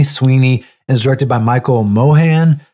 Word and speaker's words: Mohan: starts Stars Sydney Sweeney is directed by Michael Mohan Mohan that's how you say his name you know